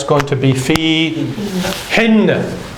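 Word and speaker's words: فيهن: In them, plural female, it's going to be fi hin.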